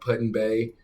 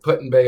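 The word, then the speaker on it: Put-in-Bay: town called Puttin Bay P UT put and Bay that's how he pronounced it so that's how I'm pronouncing it like ALB Georgia but puton Bay Ohio and they got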